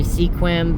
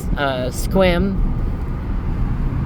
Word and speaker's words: Sequim: A lot of people say Sequim, but it's Sequim.